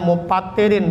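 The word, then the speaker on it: مُفَطِّرِين: Bacanya mupattirin, beda antara muptir dengan mupattir. Kalau muptir orang nggak puasa, kalau mupattir sesuatu yang membatalkan puasa.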